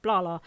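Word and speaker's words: Blahla: i was a toddler he would call me blah blah but he would spell it b-l-a-h-l-a right because the idea is that i talk a lot clearly um so it's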